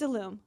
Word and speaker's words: Ilume: It's Ilume.